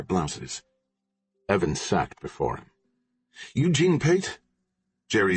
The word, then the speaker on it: Eugene: Eugene Pate. Jerry Z pronounced the first name hard like ge ne.